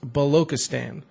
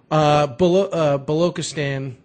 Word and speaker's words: Balochistan: I'm gonna probably butcher the hell out of this, but I believe it's pronounced Balochistan, and which is essentially a province within the country of Pakistan.